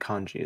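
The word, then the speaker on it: Khondji: Oh yes, Darius I think Kanji is how you pronounce his last name.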